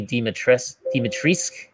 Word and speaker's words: Dimitrescu: where they pronounced Lady Dimitrescu? Yeah, it's the U is silent. Yeah, and every Romanian person went like, "U." The U is not supposed to be silent, so this is kind